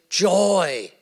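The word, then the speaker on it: joi: They spell it ji, but that doesn't matter. They still pronounce it joy.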